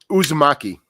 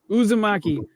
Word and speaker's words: Uzumaki: on since Krueger brought that how was it pronounced yuzaki Uzumaki Uzumaki uh I just filmed a music video for